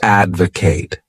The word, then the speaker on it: advocate: wonderful verb is to Advocate this word has three syllables and the stress is on that first syllable Advocate to Advocate means